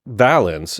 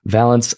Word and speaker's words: Valance: I used to say Valance, but then a Bounty Hunters comic released where one of the characters makes a joke about his name rhyming with the word balance.